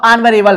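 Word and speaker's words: honourable: ऑनरेबल मैन, आ, तो देख सकते हैं उच्चारण जो है इसका वह हिंदी के स्वर से हो रहा है, इस वजह से हमारा यहाँ पर ए नहीं एन रहेगा, ठीक है।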